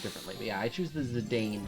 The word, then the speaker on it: Zidane: the well because I mean it's an A and E right so it to me it always reads like it should have been a long a um but I do